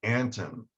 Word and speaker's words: Anthon: And it's actually Anton. Oh, Like Mark Antony.